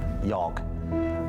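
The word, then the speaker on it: jag: Cuz I asked him how you say I in his language, which I think is Yog.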